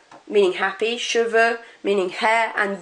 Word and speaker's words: cheveux: Rather than an X or X or anything like that, you do not pronounce that X at all. So it would be heureux, cheveux, and yeux.